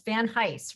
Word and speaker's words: Van Heist: It's Van Heist, rhymes with ice.